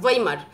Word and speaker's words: Weimar: তোমাদের বইতে আর ভয়াকার হস্যই ভাইমার লেখা থাকে, অ্যাকচুয়ালি কথাটা WEIMAR, ওয়াইমার জার্মান উচ্চারণ, তো সেটাকে ভাইমার আমরা বাঙালি উচ্চারণে বলে থাকি।